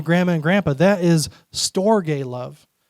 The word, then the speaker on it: storge: This one's pronounced storge.